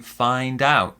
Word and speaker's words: find out: this one is to find out find out so let's learn some new information and we stress the second syllable find out to learn something also